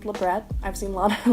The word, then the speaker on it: labret: the best my knowledge the word doesn't have French origin it literally just refers to this piercing so it is pronounced labret I've seen a lot